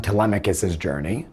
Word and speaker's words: Telemachus: On Pronunciation, I want to know that it’s pronounced Telemachus, and not TelemaCHus.